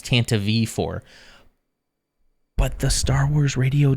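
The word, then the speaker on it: Tantive IV: drama makes it official it's not pronounced Tanta 4 it's Tanta V4 but the Star Wars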